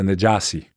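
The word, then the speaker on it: Najashi: In Arabic, it's pronounced the Najasi.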